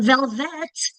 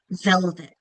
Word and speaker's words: velvet: It's not velvet, it's velvet. That second syllable has less um emphasis because it's unacented.